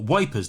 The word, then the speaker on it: Ypres: in the town of Ypres or wipers depending on your pronunciation and setup the post